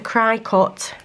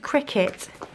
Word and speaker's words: Cricut: I still struggle with not calling it a cry cut that is not a cricket that is a Cricut